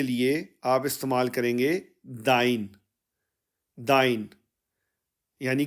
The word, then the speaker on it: dein: German में informal के लिए आप इस्तेमाल करेंगे दाइ दाइ यानी के तुम्हारा इनफॉर्मल तुम्हारा और दाइ के स्पेलिंग है अंग्रेजी में डी ई आई एन